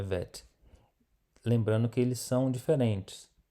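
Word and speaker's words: ב: Então, se nós temos esse pontinho aí no meio, nós vamos pronunciar bet. Se não temos o pontinho, a pronúncia é vet.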